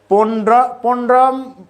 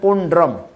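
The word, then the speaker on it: পৌণ্ড্রম: সঞ্জয় সঞ্জয়হুৎসবাহ সেরকম উচ্চারণ হবে বিকদরহ আর এই শব্দটি অনেকের রফলাটা উচ্চারণ করে না পন্ড্রম পন্ডম পন্ডম বললে উচ্চারণ ভুল আছে এই শব্দটি উচ্চারণ হবে পন্ড্রম তো এই শ্লোকে আর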